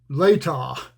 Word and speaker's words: Latah: But I played a round of golf at the it's pronounced Latah. I never could figure out how it was pronounced. The guy finally told me Latah Golf Course outside of Spokane.